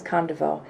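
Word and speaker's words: Condevaux: should check that but okay but my name is spelled mm-hmm and my last name is Khan de veau CE o n de v as in Victor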